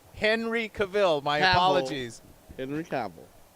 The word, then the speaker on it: Cavill: Henry Cavill. Cavill. You say it Cavill. however you want. I'm pronouncing it the way the English or the words say. That's how it's pronounced.